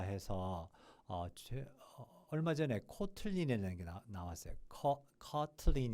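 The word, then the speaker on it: Kotlin: 얼마 전에 코틀린에 나왔어요 커틀린 이겠죠 코틀린이 아니고요 우리나라 말 아니고요 커틀린 코틀린 이렇게 발음할 겁니다 그래서 그거를 이용하면 뭐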